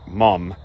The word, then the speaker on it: mum: What they were saying was they found out that they're mom and dad, but in England, they pronounce it mum, M-U-M.